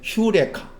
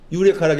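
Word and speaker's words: εὕρηκα: 그게 과거 분사형인가 그게 휴레카. 유레카라고 했잖아. 유레카 아니고 휴라고 했잖아.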